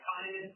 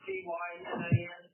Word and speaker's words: Tynan: Hyman, T-Y-N-A-N? Yes. Is Hyman how you pronounce your first name? My first name is spelled with a capital T, and it's spelled with lowercase y-n-a-n, and it's pronounced Tynan.